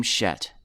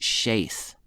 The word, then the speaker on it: Shet: she bore a son and called his name shet for elohim has appointed me another seed instead